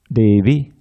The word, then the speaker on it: Devi: Notice how all the I's at the end of these different designations of Radharani, Gaurangi and Vrindavaneshwari, Devi, and that's it, 3. They're all short.